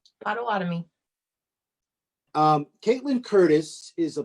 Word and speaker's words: Potawatomi: make sure of something pronunciation is your nation potawatomi yeah good job potawatomi um caitlyn curtis is